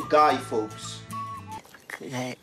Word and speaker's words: Guy Fawkes: Enfin, en anglais, c'est plutôt Guy Fawkes.